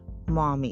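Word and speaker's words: Maumee: and Mami Rivers which Momi it's like spelled like m auu me e General Wayne surveyed the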